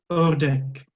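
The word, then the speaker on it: ördek: Jadi O yang ada titik duanya tuh kayak kayak ada tekanan gitu ketika kita mengucapkannya, terus juga kayak lebih moncong ketika diucapkan bibirnya ya.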